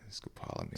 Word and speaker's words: scopolamine: Oh, scopolamine, is that how you say it? Scopolamine. Scopolamine, right.